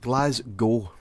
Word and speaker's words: Glasgow: The W is silent. Glasgow. I know. But where'd you get the cow from? Because it's... Or gow? I guess it's gow. Yeah, Glasgow.